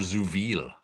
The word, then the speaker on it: zu viel: My book's full title is Captain Finity, Eins Doppelganger zu viel. I don't. How's your German, Paolo? Eins Doppelgänger zu viel. Zu viel. The Z is pronounced Z, and the V is pronounced F, like an F.